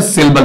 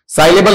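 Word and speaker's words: syllable: अगले ने क्या पूछा, सिलेबल। तो हमें पहले तो ये पता होना चाहिए सिलेबल, ये सिलेबल नहीं है, साइलेबल नहीं है, क्या है, सिलेबल है।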